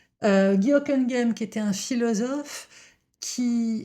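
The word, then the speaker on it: Hocquenghem: Le premier dont je veux vous parler, c'est Guoken Game. Je le prononce bien cette fois-ci, contrairement à ma dernière vidéo. Guokenem qui était un philosophe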